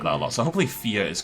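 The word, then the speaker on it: vier: pronunciation of the word fear because i think it's an f sound and i believe it's spelt with a v as i used to pronounce it via and people regret that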